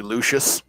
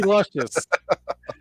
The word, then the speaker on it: Luscious: Matt's just misreading it. It's actually Simply Lucius. No, it's Simply Luscious.